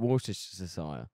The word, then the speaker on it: Worcestershire: English are just that fucking is spelled stupid. Worcestershire. That's how they say it. Worcestershire.